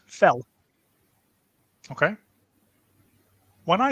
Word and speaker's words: fel: do it like this up in Hungarian is pronounced fell okay when I say the word met met